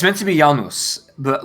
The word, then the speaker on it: Janus: in this yeah yeah it's meant to be Janus but like they pronounce it Janus yeah which of course leads to a lot